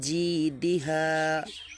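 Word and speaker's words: جِيدِهَا: হাড়ছে তিনটা ফির ফিমের এই যে জি অনেকে জিজা এইভাবে মিক্স করে দিচ্ছেন মিক্স হবে না জি চেপে হা ফি জিদিহা ফি জিদিহা তারপর দেখেন ইয়াকুলু কাপ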